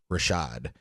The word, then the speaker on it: RVSHVD: but it's it's pronounced Rashad oh oh I see the V is the a yeah but it's a